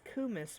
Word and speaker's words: kumis: of Our warm multiple cummies. of various gyms. God damn it. Anywho, It's kumis, but we are now pronouncing it as cummies because, we're fucking degenerates.